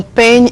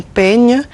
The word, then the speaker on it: peigne: Mon peigne est magnifique. Mon peigne est magnifique. You see the way I pronounce it. Mon peigne est magnifique.